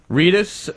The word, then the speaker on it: Reedus: patrick flannery who is a star uh norman reedus reedus am i pronouncing that correctly yeah reedus who was a star in billy connolly a